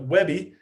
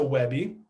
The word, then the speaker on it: WebP: webby which is uh i know it's kind of pronounced kind of weird but webby like that a webp so uh it is